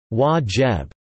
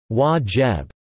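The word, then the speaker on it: واجب: A common nickname for tea in Egypt is duty, pronounced in Arabic as wajib or wajib, as serving tea to a visitor is considered a duty, while anything beyond is a nicety.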